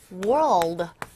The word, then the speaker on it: world: 얘는 R과 L이 같이 묶여 있단 말이죠. 힘들어요, 발음하기가. 어떻게? world에다가 L 사운드가 들어가기 위해서는 조금 더 혀를 끝으로, 혀 끝이 목젖을 향해서 확 꺾어주셔야 됩니다. 좀 어려운데 world.